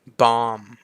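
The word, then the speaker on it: bomb: ตัว ถัด มา คือ Bom บอม ก็ เหมือน เดิม ตัว B ไม่ ออก เสียง ใน ตอน สุด ท้าย นะ ครับ ผม ก็ b o Bom แบบ นั้น ไป เลย นะ บอม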